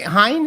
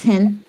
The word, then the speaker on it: Hinn: Hine. Is that Is that how you pronounce it? Uh, it's Hinn.